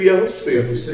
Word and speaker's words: Yahusef: Eu pronuncio Yahusef.